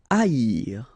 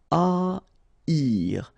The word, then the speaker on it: haïr: Haïr. Okay, so keep in mind that here you will pronounce it like I. Haïr. First H is not pronounced, okay, so haïr.